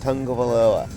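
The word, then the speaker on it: Tagovailoa: there's no inn in his name but they pronounce it tango veloa dan is in the he comes in every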